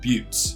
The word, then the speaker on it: buttes: Well, most of the Thousand Needles is made up of narrow canyons dominated by dozens of buttes. Yes, I checked the pronunciation of that word.